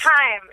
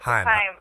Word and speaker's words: Haim: It's Haim. Haim. Actually, I went to high school with those girls, so I know how to pronounce it.